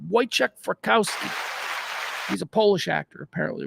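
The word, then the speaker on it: Wojciech Frykowski: coffee Aris polish actor week fikowski pronounced it right I've heard it said out loud boek fski he's a Polish actor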